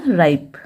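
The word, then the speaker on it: ripe: फिर आर आई पी ई, आर को पढ़ा जाता है र, आई को पढ़ेंगे आई, फिर पी को पढ़ेंगे प, और ई रहेगा साइलेंट, तो क्या हुआ राइप।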